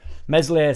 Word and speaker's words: Meslier: Meslier silent S at end as well, apparently.